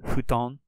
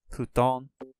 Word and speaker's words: futon: it to be pronounced it's not really like a hard F it's a kind of an H sound futon futon romaji G the G